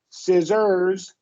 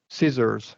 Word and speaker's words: scissors: said don't leave the scissors uh we're going to stress the first syllable scissors yeah scissors yeah don't